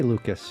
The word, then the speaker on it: Lukacs: We just say Lucas. You say Lucas. Okay. Okay. I guess SC can make an S sound, right?